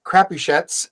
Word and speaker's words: Crapuchettes: And our fantastic guest, Dominic Crapuchettes. And yes, I cleared how to pronounce the name with him before the show started.